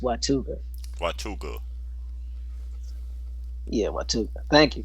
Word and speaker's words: Watauga: She says it's pronounced Watuga.